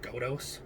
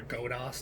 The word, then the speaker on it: Godos: of the rmz 11 go dose or go to Oz depending on how you pronounce it this is the former